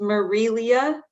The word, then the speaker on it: Marilia: so yes it's pronounced marilia like marie and then leah but put together thank you absolutely thank